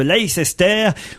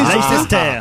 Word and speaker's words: Leicester: Jerry McCann a repris son poste de cardiologue consultant à l'hôpital Glenfield de Leicester, où il ne travaillera pour l'instant que 3 demi-journées par semaine.